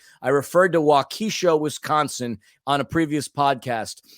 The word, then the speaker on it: Waukesha: Waukesha nothing but love I would have absolutely pronounced it the way you did the first time wakisha I had no idea how that's how that was pronounced so for all of